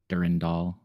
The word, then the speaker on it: Durandal: Durandall. Sorry. Durandall. That's you. You like split it into three syllables. You don't say like durand. It's durandall.